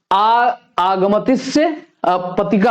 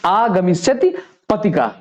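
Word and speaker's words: आगमिष्यत्पतिका: तो इसमें जो है ये आगमतिस्य पतिका हो जाएगा। ठीक, इसके लिए एक शब्द क्या हो जाएगा? ये हो जाएगा आगमिष्यति पतिका। आगमिष्यति पतिका। ठीक, तो ये बिल्कुल इसका सही उच्चारण हो जाएगा आगमिष्यति पतिका।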